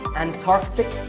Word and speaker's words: Antarctic: Similarly, Antarctic and Antarctica.